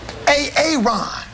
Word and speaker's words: Aaron: you say it the first time I said A-A-Ron? Because it's pronounced Aaron?